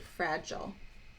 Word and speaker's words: fragile: my first one is my first chunk is like this frat like that short vowel fra jaw oh fragile j oh sounds like that sounds like fragile and fragile is the